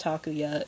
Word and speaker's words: Takuya: going to say it to kuya i know it's actually pronounced takuya in the japanese but they called him